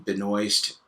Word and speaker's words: Benoist: And for example, my name is Benoist. I've heard so many different versions of that. Yet, to me, it seems very easy to pronounce. It's essentially pronounced exactly the way it's spelled, but I have had people struggle with this.